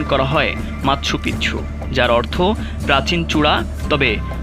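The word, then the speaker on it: Machu Picchu: কেউ এটিকে সূর্যনগরীও বলেন স্প্যানিশ ভাষায় এই শব্দটির উচ্চারণ করা হয় মাৎসুপিচ্ছু যার অর্থ প্রাচীন চূড়া তবে মাছপিছু উচ্চারণ অধিক প্রচলিত ইতিহাসবিদ্দের গবেষণায় এ শহর সম্পর্কে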